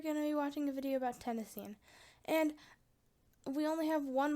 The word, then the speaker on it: tennessine: of element 117 I would pronounce it tenine like iodine and chlorine but some people in America say chlorine and iodine but my feeling is that everybody will say tennessine because it sounds just like the state of Tennessee whereas tenine doesn't the reason why it